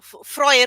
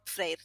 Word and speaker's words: Freyr: Or Freyr or Freyr, depends on whether you want to pronounce it in an old way or in a modern way.